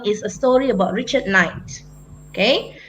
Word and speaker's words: Knight: Kilmer is a story about Richard Knight. Okay, now the K is silent.